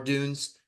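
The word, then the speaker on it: Odunze: with Rome Odun or Dunes however you pronounce it I feel like it's Odun it's Odun yeah Odun okay perfect uh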